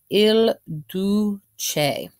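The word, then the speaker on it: Il Duce: I definitely want to he gets a nickname called ill do che LLL do che and so I've got it you know phonetically spelled over here do che and what that translates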